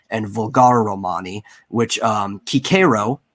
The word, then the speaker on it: Cicero: vulgar romani which um kikero said you're supposed to say his name it was pre-octavian it's not cicero kikero even wrote himself that